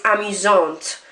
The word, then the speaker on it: amusante: You just now pronounce the end consonant. So instead of arrogant, it's arrogante. Instead of amusant, it's amusante, and so on.